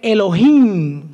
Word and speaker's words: Elohim: Este sustantivo Dios en su original hebreo es Elohim con acento en la i.